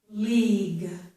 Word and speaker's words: league: Here we do have G-U-E, but both the U and E are silent. Both the U and E are silent. This is league. It ends in a G sound.